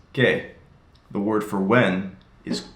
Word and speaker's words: qué: It's pronounced qué.